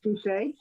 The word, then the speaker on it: Boucher: it's pronounced Boucher correctly.